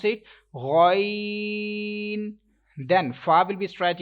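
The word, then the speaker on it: غ: Next question, next letter is ghain, and ghain is musta'aliya letter, and you will have to pronounce with thicker voice as well as stretch. You will have to stretch equal to 3 seconds, and you can't make echo end of this letter like ghain.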